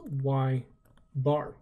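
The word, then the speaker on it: ȳ: y bar so again we actually pronounce it as y bar and what all that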